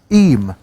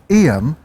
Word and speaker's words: Eyam: But we are out on location in Derbyshire in Eyam or Eyam or Eyam. Whichever way you fancy pronouncing. I think the official term is, the official name is Eyam, isn't it?